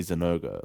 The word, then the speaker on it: Zinogre: I say Jinouga sometimes as well, and I sound weird as fuck because it's definitely Zinogre, like it is.